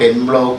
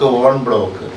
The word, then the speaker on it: en bloc: We already know, I have already pointed out, ENBLOC, it is not en bloc, on bloc.